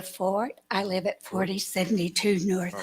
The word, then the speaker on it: Forte: you next we have Forte I believe it's pronounced Fort my name is Ford I live at 4072